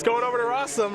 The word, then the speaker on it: Rosum: it's going over to rossum rhymes with awesome against andrews solano i